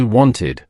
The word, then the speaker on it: wanted: Our first verb is want. It ends with t, so the past tense is wanted, pronounced wanted. Repeat after me, wanted.